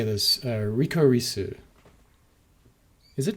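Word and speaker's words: リコリス・リコイル: Rikorisu. Is it? No, it's Rikorisu Ricoiru, which is apparently like the licorice is a type of flower, which is a real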